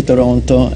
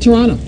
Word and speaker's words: Toronto: You can tell, because look how he said Toronto. Toronto. He just said in Toronto. That's right. the tell. That's if you pronounce the last T, you don't know much about Toronto.